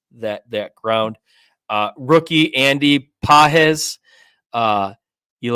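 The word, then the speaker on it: Andy Pages: able to cover that that ground uh rookie Andy pz uh you like how I pronounced it similar I think I got it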